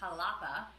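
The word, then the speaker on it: Xalapa: is a spanish word from halapa spelled with an x or j which is the capital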